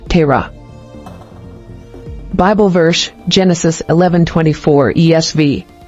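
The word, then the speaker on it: Terah: origin Hebrew Tera meaning delay or to wander pronunciation Terra Bible verse Genesis 11:24 ESV when theore had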